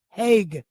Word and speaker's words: Hague: Apparently, it's pronounced Nicholas H. No, excuse me, Heg.